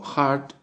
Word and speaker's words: heart: que dice Listen, escuchar, pronunciación estadounidense de corazón, que sería heart con la R. Heart, heart, heart. Y la pronunciación de el Reino Unido.